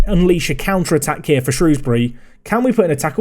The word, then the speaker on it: Shrewsbury: break away and unleash a counter-attack here for shrewsbury can we put an attacker we don't need to it goes wide of the post also i've said shrewsbury shrewsbury there it's not it's shrewsbury everyone if you